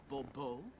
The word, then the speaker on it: Bourbeau: The emphasis falls on the last syllable. Bourbeau? Mm-hmm.